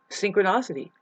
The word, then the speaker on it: synchronicity: Synchronicity. I'm like, let's look it up. Synchro, ne, ne, e, I, I. Synchronicity, not nosity.